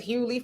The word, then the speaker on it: Hughley: says his name is hughley for the most people the g is silent why does he pronounce the g in his name you got me cynthia